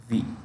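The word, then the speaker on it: Wii: called Nintendo okay Nintendo they make V it's pronounced V so um Microsoft has said we are going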